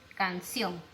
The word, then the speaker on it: canción: Puedo poner de repente canción. Canción. ¿No? Termina en N y lleva acento en la O.